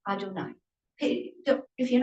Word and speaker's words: Adonai: However, this Yud He Vav He is pronounced Adonai.